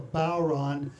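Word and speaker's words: bodhrán: On the ground there, upside down and right side up over here, is what we call a bowron. It's spelled B-O-D-H-R-A-N, right?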